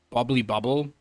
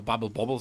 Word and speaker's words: Bubble Bobble: I mean, someone might be into Bubbly Bubble, Bubble, right? Oh, Bubble Bobble, sorry, that's what it actually is pronounced.